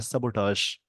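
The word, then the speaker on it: sabotage: सबोटाज, इसको लिखते हैं ये, इसका प्रोनाउंसिएशन होता है सबोटाज, डिस्ट्रॉय करना, खत्म करना।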